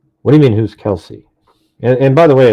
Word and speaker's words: Kelsi: What do you mean, who's Kelsey? And by the way, it's K-E, her name is spelled Kelsi, not S-E-Y. Kelsey is the older sister of Libby.